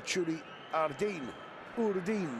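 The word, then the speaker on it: Txuri-Urdin: It's been a bustling performance from the Churi Urdin. Not quite sure of the correct pronunciation of that. The traditional Basque name by which both the team and fans are known. Churiurdin, they're telling me.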